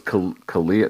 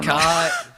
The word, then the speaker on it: Kahale: Kahale? I thought it was Kalia. No, all right. No, Kahale.